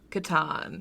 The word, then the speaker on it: Catan: But, so how do you pronounce Klaus Teuber's The Settlers of... Catan.